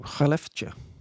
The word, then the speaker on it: Skellefteå: The next matchup includes another team from Sweden, Skellefteå, as you have to pronounce it.